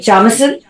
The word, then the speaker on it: Jameson: Two of these beautiful ladies, Kate Jameson from Australia, that's how you pronounce it, and of course Ginger Bailey.